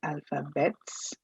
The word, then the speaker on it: alphabet: I said alphabet and not alphabets. Although we write alphabets but we pronounce it as alphabet. The T is silent.